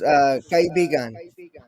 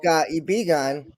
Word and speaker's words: kaibigan: Like a good example is kaibigan, which is friend. But if Yeah. you say it wrong, kaibigan, it means we're lovers.